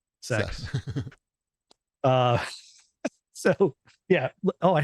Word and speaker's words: CeX: sex shop the uh that's what their video game stores are CeX but it's oh pronounced sex uh so yeah oh